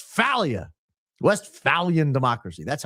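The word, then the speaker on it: Westphalia: Blessed Carl von Hatberg is spinning in his grave over your pronunciation of West Falia. No, it's Falia.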